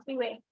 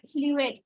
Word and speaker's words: fluent: that you may become fluent. See, I said fluent, not fluent. T takes time and stops your fluency somewhere. So stop your all the end T. All the end T should be stopped.